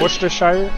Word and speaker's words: Worcestershire: Worcestershire?